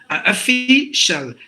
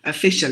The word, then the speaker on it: official: chill social Like That official official not a fee CEO please don't say that so that again some